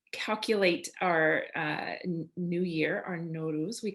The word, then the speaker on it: Nowruz: So I'm pronouncing Nowruz the way that a lot of Iranians pronounce it, Nowruz.